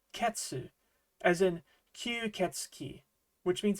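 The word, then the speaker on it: 血: When it's used as part of a larger kanji, it will usually be pronounced ketsu as in ketsi, which means vampire.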